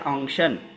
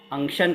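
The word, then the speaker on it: unction: अनइंटिंग जो होती है वो गाढ़ी जब होती है तो उसको कहते हैं अंशन अंशन कहते हैं और उसकी स्पेलिंग है यू एन सी टी आई ओ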